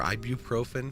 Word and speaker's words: ibuprofen: Or if you just want to get ibuprofen or ibuprofen as it actually is, we don't we never pronounce the U.